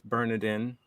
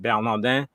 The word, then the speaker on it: Bernardin: So, I pronounce my name Bernardin. If you're French or Haitian, I'm of Haitian descent. So if you're of Haitian descent, you can pronounce it Bernardin, and I'll be very impressed.